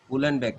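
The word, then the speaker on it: Uhlenbeck: और sir Gond Smith and, उलनबेक, okay sir, उलनबेक, H silent रहता है, उलनबेक, ओके सर, इट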